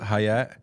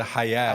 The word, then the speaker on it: hayat: we stayed at the hayat it wasn't the hay it was the hayat which means life it was right next